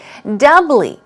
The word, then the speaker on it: doubly: Doubly. Here we go. Stress goes on the first syllable. It's doubly. Doubly. Not doubly. It's doubly. Doubly. 2 syllables.